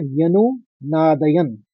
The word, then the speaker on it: व्यनुनादयन्: तो व्यनु, आप 2 शब्दों में इसको बांट लीजिए, व्यनु नादयन। लेकिन पहले शब्द के संग किस तरह से उच्चारण करना होगा ये समझना बहुत जरूरी है।